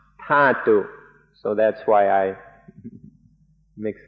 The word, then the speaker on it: Dhatu: In English, it's usually spelled D-H-A-T-U, and so I sometimes say Dhatu. In Thai, it's pronounced Thatu, so that's why I mix these up.